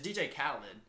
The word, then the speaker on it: DJ Khaled: didn't not I did not know how to pronounce khed KH KH people say no say KH no it's DJ Khaled I don't think he is but the other